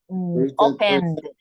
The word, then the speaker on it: opened: Open is no, mister, because I have an N at the end, no a T and a D. We pronounce ED when you have T or D. And we have here an N.